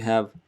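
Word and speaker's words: ح: Try to squeeze your throat, constrict it, hello.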